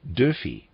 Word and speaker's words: Dörfel: When speaking dialect, Dörfel is always pronounced Dörfi.